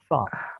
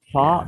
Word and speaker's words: far: Okay, so the American pronunciation is far. They have a slight r at the end, but the British pronunciation is far without a r sound. R sound has nothing.